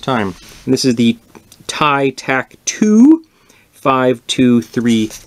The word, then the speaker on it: Tighe: right the first time and this is the tie tack two five two three oh and I